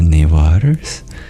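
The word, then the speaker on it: Newar: though I'll have to learn more about the neers that's how you pronounce it but you've seen one and attended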